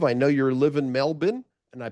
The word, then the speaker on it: Melbourne: I know you live in Melbourne and I pronounced it not Melbourne.